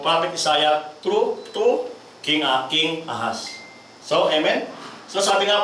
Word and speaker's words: Ahaz: Hindi po yung snake, Ahaz lang po. Kasi, pronunciation is Ahaz.